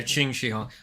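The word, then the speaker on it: Qin Shi Huang: They summon uh Oh, it's pronounced Chini. Yeah. Ching Xihong. I always get That's the uh that's the dragon emperor. Uh Chin Xihong that they summon u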